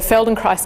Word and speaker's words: Feldenkrais: PhD in physics so Feldenkrais it's hard to pronounce - oops rhymes with rice so that's how you spell it and that so the Feldenkrais method is backed based on the life work of dr.